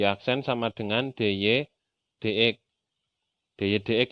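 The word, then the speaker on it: dy/dx: dy dx ya, bacanya jangan dy per dx.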